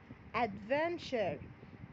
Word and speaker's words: adventure: دايما كده عايزاكم تفتكروا ان في مقطع اسمه TURE بيتنطق تشر زي كالتشر. adventure تشر يبقى TURE بننطقه تشر.